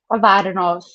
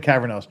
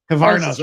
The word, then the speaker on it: Cavernos: Cavernos. Oh, Cavernos. Okay, I've been saying Cavernos because I'm an American. Okay. Cavernos. Okay. Accent on the first syllable.